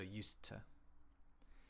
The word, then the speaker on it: used to: so in this case the D and the T sound because it's the same physical movement you don't say both you just say once so used to so I used to live in Japan I